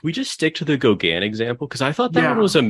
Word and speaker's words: Gauguin: So I think, like, if we're gonna say it, like, might as well say like Gauguin. So it's like the French pronunciation. Gauguin. Gauguin. I think it's Gauguin. So like it not nasally enough.